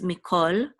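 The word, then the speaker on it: מִכָּל: we're going to pronounce, even though this is a kamatz, it's going to be pronounced the ancient way, which is as a o. So this is mikol, which means all.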